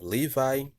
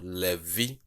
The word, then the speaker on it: Levi: So Levi, Levi. The English is written as Levi, but the correct pronunciation is Levi.